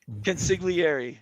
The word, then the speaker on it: consigliere: Consigliere. Yeah, you have to get the G in there.